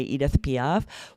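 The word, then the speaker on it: Edith Piaf: musicians and band names you can definitely say in the language or accent the band would use right the examples we gave were like Romstein a German band or Editp you could definitely still say that with more of an American accent and say Edith PF both are going to be counted as correct pronunciation.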